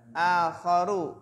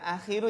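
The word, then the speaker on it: آخَرُ: Misalun akharu, bukan akhiru ya. Karena ini contoh yang lain.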